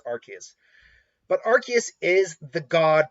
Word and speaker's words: Arceus: said how it's pronounced is it archaic or arceus i think it's archaious because of um type nulls and sylval using the rks system i think that's what